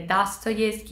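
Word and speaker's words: Достоевский: di Pietroburgo di gagol pronuncio con la A perché da quanto mi è stato spiegato nel libro di Paolo onori se ci sono due o la prima si legge a quindi è dasto Ski è tsto e gagle quindi spero di averlo pronunciato nel modo corretto comunque gacol È uno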